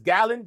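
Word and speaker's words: Galan: You got, and I I think I said his name wrong, but it's Gallon.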